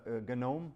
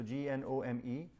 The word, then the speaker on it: GNOME: One is called uh Gnome, right? So G N O M E. Some people call it Gnome as well, but the Gnome is the right pronunciation with the hard G.